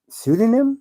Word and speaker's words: pseudonym: what is that word pseudonym pseudonym yes is that how that's sped yes that don't look like how it's spelled PUD by the pseudonym